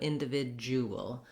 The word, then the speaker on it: individual: british and american english individual um is uh again stressed on the vid syllable and so for words like residual and individual starting on the stressed syllable can really be helpful so i would try vid v vig visual sorry that d doesn't say a d so even though